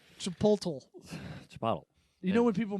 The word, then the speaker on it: Chipotle: You mean the right way to say it? Chipotle.